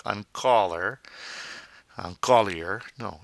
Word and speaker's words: collier: shop in boutique on colley a necklace ah golly a the r is silent at the end of the word that a sound ER and Koli it's not on caller Collier no it's a holy